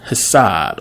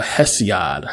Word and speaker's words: Hesiod: We have Hesiod, or Hesiod, however you want to pronounce his name.